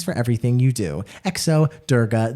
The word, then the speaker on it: Durga: everything you do exo durga the g is pronounced like garden not jam but it's totally fine